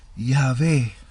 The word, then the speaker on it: Yahweh: hablando de sonido yagüe y teodoreto afirma que Los Americanos pronunciaban el nombre Ya ve Sí ya ve eso es como lo pronunciaban los samaritanos Sí ya ve y